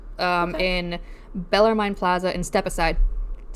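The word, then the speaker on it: Stepaside: affordable housing suburb um in Bellerine Plaza in Step Aside. Step aside. Step aside. That actually is pronounced Step Aside.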